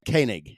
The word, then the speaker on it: Koenig: way or this way and he's like it's kig damn it so it's like all right that's